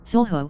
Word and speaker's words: Cthulhu: Lovecraft transcribed the pronunciation of Cthulhu as Cthulhu and said that the first syllable pronounced gutturally and very thickly. The U is about like that in full, and the first syllable